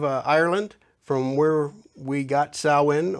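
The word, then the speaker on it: Samhain: from where we got sauwin or Sam Hayne as it's spelled but also classically and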